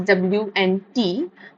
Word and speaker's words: Wnt: and that is why this protein is also written as WNT, okay, and is pronounced as Wnt.